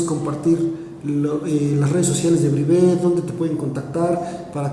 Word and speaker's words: Brivé: es, pueden buscarnos como Brivé Soluciones. ¿Cómo se escribe? Es Brivé, B-R-I-V-E, con tilde al final, el acento es en la última E, Brivé Soluciones.